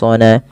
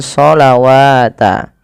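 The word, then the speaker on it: ٱلصَّلَوٰةَ: Ini hati-hati teman-teman, jangan membacanya dengan sholawata. Ya, bukan wa aqimus sholawata wa atuz zakawata. Tapi di sini ada penulisan rasm, yaitu adanya alif di atas hurufnya, itu yang menandakan dipanjangkan. Sedangkan wawunya tidak dibaca.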